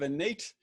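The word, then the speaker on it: Enate: rounding out our panelist kit cox ceo of innate uh kid am i pronouncing your name your your uh your company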